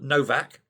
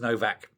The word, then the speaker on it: Nowak: Well, the TUC General Secretary, a guy called Paul Novak, or no, it's spelled Nowak, but I think it's pronounced Novak, has said, no, this is wrong.